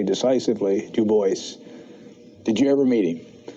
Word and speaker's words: Bois: Bois? Yes, he always insisted on that pronunciation. He did not like the Gallic pronunciation, though in his antecedents he was partly French.